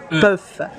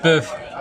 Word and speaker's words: PÖFF: Everyone should have to learn to pronounce PÖFF. PÖFF.